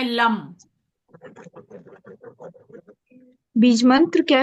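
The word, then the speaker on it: लं: और उच्चारण रहता है लम लम।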